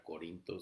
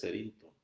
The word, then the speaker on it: Cerinto: ayer cómo se decía, porque no podían pronunciar bien el nombre, si era Corinto, si era... o estaban diciendo cualquier cosa menos el nombre de Cerinto, es Cerinto.